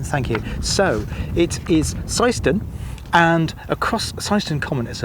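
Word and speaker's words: Seend: pockets where it's really difficult to get the pronunciation right so I really do appreciate that Martin thank you so it is seon and across seon common is a lovely old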